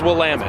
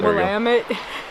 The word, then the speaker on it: Willamette: It's pronounced Willamette. Willamette.